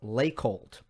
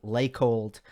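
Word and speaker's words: Laykold: to a surface called lake hold i'm i might be mispronouncing it i haven't heard it pronounced i've only read it l-a-y-k-o-l-d like cold lake hold that is the surface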